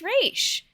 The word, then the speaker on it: Ra's: I get why it's, like, why someone would pronounce it Ra's, because it's spelled R-A apostrophe S, but it's always been pronounced Raish.